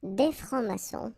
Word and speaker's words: francs-maçons: S here and S here. Des francs-maçons, and then you don't pronounce them.